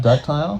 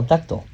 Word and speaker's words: ductile: Is it not duct tile? Not duct tile. Ductile.